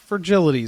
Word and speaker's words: Fragilities: Fragilities is how you say that.